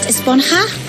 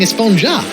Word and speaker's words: Esponja: Actually, it's pronounced Esponja with an H sound at the end. Really? But we've all been saying Esponja.